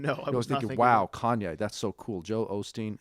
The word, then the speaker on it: Kanye: to pronounce his name they were going like kane did you see kane west what kane he came out with the album kane kane like who's kanye kanye west you know no no